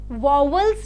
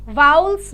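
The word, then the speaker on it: vowels: difference क्या होता है हम सबने शुरु से पढ़ी है वल्स जिन्हें बोलते हैं हम वाउल्स भी आप इसे प्रोनाउंस करते हो वल्स भी बोलते हो पर ज्यादा अच्छा प्रोनंसिएशन वाउल्स है तो जब भी कभी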